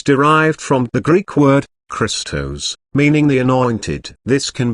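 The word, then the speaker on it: Χριστός: from the Greek word Christos meaning the anointed this can be translated as the Messiah phonetically the Greek word sounds like the word Crystal this is referring to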